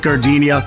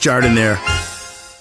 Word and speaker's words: Jardiniere: Hey guys, when you're at the counter, don't call it gardenia. It's pronounced Jardiniere.